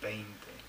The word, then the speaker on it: veinte: But of course, we English people tend to want to put the E first, so we tend to say veinte, and it's not. It's veinte, okay? Which rhymes with twainte.